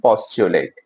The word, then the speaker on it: postulate: बस ध्यान रखना पी और यू का साथ में pronunciation chew maximum time not always. ठीक है?